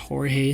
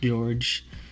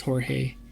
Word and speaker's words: Jorge: name is Jorge or it's pronounced Jorge not George it's Jorge Jimenez uh